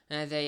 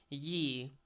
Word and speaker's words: Ye: So, it's pronounced the way, we pronounce the or the. But, it's just spelled that way, but people kind of just don't know that fact. Instead, just assume that it's pronounced ye.